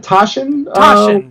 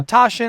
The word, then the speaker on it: Taschen: order it or the how you pronounce that Taschen yeah Tasha I believe we're caching yeah so I'm